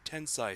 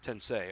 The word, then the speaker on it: Tensei: a spin-off of the shin Megami Tensai series did I pronounced that correctly no it's sensei tensei okay that's why I